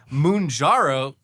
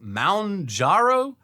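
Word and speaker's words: Mounjaro: Uh, munjaro. Oh, pronounced moundaro.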